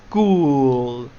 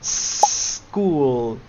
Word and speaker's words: school: We say school. I know Spanish speaker tends to pronounce an e here, but it's it's not the correct way.